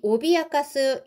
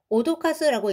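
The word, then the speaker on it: 脅かす: 자, 그런데이 오비아가스 요렇게 똑같이 쓰고서이 오비아가스라고 읽지 않고 오도카스라고 읽는 경우도 있습니다. 이것도 협박하다, 위협하다예요.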